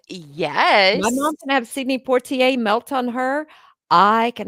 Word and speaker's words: Poitier: looked at me and I can never say his name, Sidney Portier, I think is how Sidney you say it? Poitier? Yes.